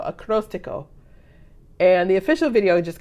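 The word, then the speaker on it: Acróstico: called acrost acrostico acrostico the accent is on the o so acrostico and the official video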